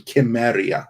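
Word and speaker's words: Cimmeria: hate in my mind it has always been chemeria that's how it's pronounced how you're supposed to say it that's how coleman would say it but due to the rules of the english language samaria it is but anyway the location of samaria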